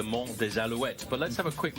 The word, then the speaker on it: Mont des Alouettes: if you want to in French it's actually the Monte wet but let's have a